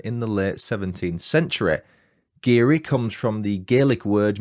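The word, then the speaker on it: Garioch: i o c h but I'm assured it's pronounced giri number two the village is home to one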